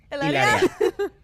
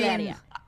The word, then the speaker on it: Hilaria: I love that you pronounce her name like that, though, all the time. Ilaria. Hilaria? I mean, Hilaria.